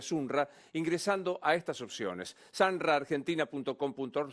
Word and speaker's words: Sunra: Hoy podés tener tu franquicia Sanra, se escribe Sunra, ingresando a estas opciones.